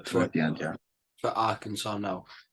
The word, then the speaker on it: Arkansas: For Arkansas now, am I pronouncing that right? Yeah, Arkansas. Yeah, Central Arkansas.